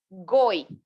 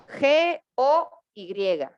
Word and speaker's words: goy: eran del pueblo escogido, es una palabra que se escribe goy, G-O-Y, goy.